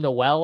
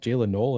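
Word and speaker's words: Jaylin Noel: And I was calling him Noel, I think, for the first like I was too. Like I I started calling him Noel and then eventually it's actually pronounced Jaylen Null.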